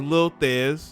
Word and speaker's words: Lil Theze: Because this young man, his name is Lil Theze, that's how you say it.